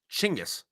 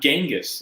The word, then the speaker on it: Genghis: airport it's shinka's con i thought it was changes han yeah shingis yeah not not genghis like no no hard g i wonder where we